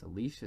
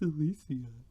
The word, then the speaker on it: Alicia: do you say it her name is alicia silverstone and most people say it's alicia silverstone because it is spelled that way oh but for some reason her dipwad californian parents decided it's alicia it's because california things